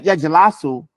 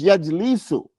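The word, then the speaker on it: يجلس: It's not yajlasu, it's yajlisu, meaning it's yaf'ilu.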